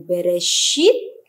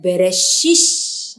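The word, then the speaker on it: בראשית: Misalnya kata Bereshit, ya, dialek Sephardic membacanya dengan Bereshit. Nah, orang-orang Yahudi Askenazi, ya, Yahudi yang dari Eropa Utara itu membacanya dengan Bereshis.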